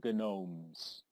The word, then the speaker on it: gnome: mischief of the gnomes but the g is silent because a g moves in silence like in lasagna this turn reduce the